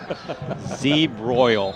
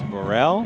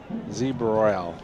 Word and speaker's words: Zabral: Say it like it's spelled. A Z and then you broil. No, there's not a broil. It's a Burrell. Oh, it's Burrell? Yeah. Z Burrell. How's that?